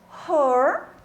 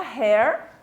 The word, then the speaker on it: her: Her, não fala hair, porque senão hair é cabelo. Aí vai confundir a pronúncia. Por mais que algumas palavras sejam pronunciadas muito parecido, essa daqui não é.